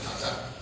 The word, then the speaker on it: Qatar: When you see a country, a small country like Qatar, that's the way to pronounce it, which has sand, dust, hardly any fresh water.